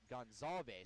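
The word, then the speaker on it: Gonzales: manic gonz gon zes it's spelled gones but it's gonzalas so it's kind of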